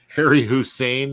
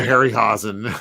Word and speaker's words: Harryhausen: Harry Hussein, is that that's the Iraqi version of what did I say? I said the Ray Harryhausen. Yeah, I always say his name wrong.